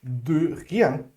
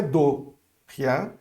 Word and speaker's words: de rien: Mas é só um pequeno detalhe, essa pronúncia aqui era bem mais fechada, é um de, ok? De rien. Não é do rien, mas é um e fechado, beleza?